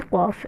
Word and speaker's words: ق: ये बड़ी कॉफ है, इसे हम प्रोनाउंस करेंगे कॉफ, हलक से आवाज़ निकाल के प्रोनाउंस करेंगे कॉफ।